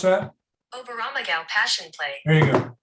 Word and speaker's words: Oberammergau: Everybody know how to pronounce that? Oberammergau Passion Play.